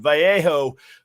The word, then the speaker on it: Vallejo: by uh I'm gonna mess up the pronunciation Vallejo uh California that's the two L's that make a y sound you know uh some